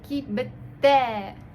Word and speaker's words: кибеттә: Т мы слышим, как бы она такой глухой, и не мягко будет, а как бы немного тверже. Кибете.